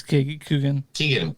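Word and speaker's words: Keoghan: Is that how you say it? Barry Keegan? Coogan? It's Coogan. Barry Keegan is like, on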